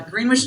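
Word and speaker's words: Greenwich: He has been mayor of Greenwitch, New York. And I know I pronounced that correctly because he told me uh Greenwish, New York, a former mayor.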